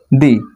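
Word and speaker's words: the: Definite হিসেবে ব্যবহৃত হয় দি। এটাকে কেউ দি উচ্চারণ করে আবার কেউ দা উচ্চারণ করে।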